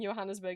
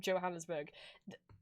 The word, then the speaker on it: Johannesburg: Because I keep saying Johannesburg instead of Johannesburg. It's not in Germany. I don't need to pronounce it with a Y.